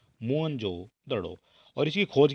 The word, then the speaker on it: मोहनजोदड़ो: माना जाता है और मोहन जोदड़ो शब्द का सही उच्चारण है मोहन जोदड़ो ठीक है यह आप देख सकते हैं जो सही उच्चारण है वोह हो जाता है मोहन जोदड़ो और इसकी खोज की